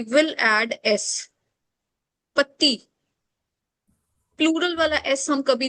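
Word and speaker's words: petit: We don't read final consonant. Fine. We only read CLFR. So T is silent consonant. पति, अगर ये adjective है, पति का मतलब है स्मॉल या फिर शॉर्ट.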